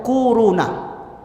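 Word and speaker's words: كورونا: Corona. Corona. Bacanya tuh kuruna.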